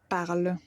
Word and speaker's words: parlent: vous parlez ils elles parlent ils elle part alors une chose à mémoriser toutes les personne du singulier et la troisième personne du pluriel on l'a même prononciation et ça c'est une